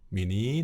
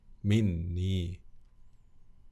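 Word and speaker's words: مِنِّي: Minni ya, bukan min ditambah ya, tetapi bukan mini tetapi minni. Karena mini susah ya diucapkan dalam bahasa Arab.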